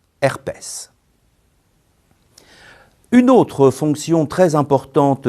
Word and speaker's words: herpès: mots invariables après auprès attention certains mots font exception et se prononcent S c'est le cas de faciès cacatoès palmarès herpès une autre fonction très